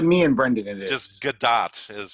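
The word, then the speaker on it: Gadot: and Brendan it is G do is how it's pronounced yeah it's like dot with a g in front of it I know we've talked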